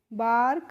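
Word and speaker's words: bark: तो बी ए आर के को हम पढ़ लेंगे बार्क।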